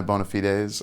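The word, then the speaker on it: bona fides: Prove my bonafides. I think that's how you pronounce it. Bonafide. Bonafidees. I like saying bonafides to be silly. Bonafid kind of like a bone to pick.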